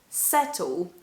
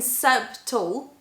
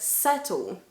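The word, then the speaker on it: subtle: you have b plus t then the b is silent for example that's that's or settle settle i'm not saying sub tall but settle uh of course it's not the case for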